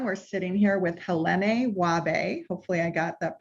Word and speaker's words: Wahbeh: Yes, Wahbeh is a Arabic surname. It's in Arabic pronounced Wahbeh, and it means gift from God, which is incredible.